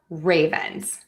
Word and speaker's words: Ravens: Now we have Baltimore Ravens, Baltimore Ravens. So we're going to stress the Baltimore Ravens. So stressing syllable number 1 in both of these words.